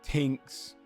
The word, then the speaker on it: Tinks: drops any fascination with tinks finally rhymes with Jinx uh and and falls